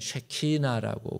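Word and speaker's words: שכינה: 임재라고 하는 말을 어 이스라엘 말로 뭐라 그러냐면 어 따라합시다. 최 키 나 예 쉐키나라고 그렇게 어 발음을 합니다.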